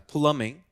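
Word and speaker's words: plumbing: 회사 그다음에 배관 회사 플러밍 배관 회사 비가 발음이 안나요 비가 발음이 안납니다 플러밍 PL PL PL 자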